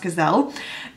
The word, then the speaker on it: Giselle: just a brief overview, Giselle, I'm gonna say Giselle because that's the name I'm used to, but it could be pronounced Gazelle, is a kind of a village girl.